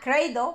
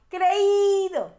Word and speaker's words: creído: It's not creído, but creído, creído. It's a hiato. A hiato is when we break 2 vowels apart. A diphthong is when the two vowels are together in the same syllable. A hiato is when we separate vowels.